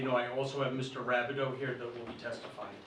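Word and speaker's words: Rabideau: name and spell your last sure it's rabido that's spelled r a b i d e a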